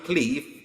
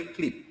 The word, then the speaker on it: QLIP: is CLI on but it's not actually CLI it's actually clip so it's spelled qli I right so it's SP